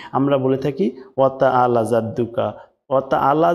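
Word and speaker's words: جَدُّكَ: জাদুকা যদি বলেন তাহলে জাল দিয়ে হচ্ছে জিমের উচ্চারণ কিন্তু শক্ত করে জিহ্বার মাঝখান থেকে বলতে হবে।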